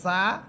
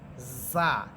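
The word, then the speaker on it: ز: পড়েছিলাম উপর উপরের দুই দাতের আগার সাথে আর যা সিন সদ এই তিনটা হরফ নিচের দুই দাতের আগার সাথে লাগবে আর এই তিনটা হরফের সিফাত একটা হচ্ছে চরি পাখির মত আওয়াজ হবে ঝিঝি পোকার মত আওয়াজ হবে যা সিন সিন সদ সদ আপনারা নিজেরা একটু চেষ্টা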